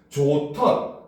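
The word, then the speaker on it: 좋던: 조턴, 그렇죠? 히읗과 디귿이 합쳐져 가지고 티귿이 되고, 싸치, 히읗과 지읒이 합쳐져서 치읓이 되고, 그렇죠?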